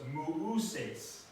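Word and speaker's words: Μωϋσῆς: So you have two vowels, but this diaeresis mark, it's almost like an umlaut in other languages. It's telling you that those two are pronounced separately, not as one sound. So it's mu'uses for Moses.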